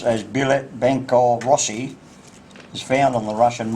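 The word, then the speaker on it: Билет Банка России: This phrase, pronounced as Bilet Bankov Rossi, is found on the Russian ruble.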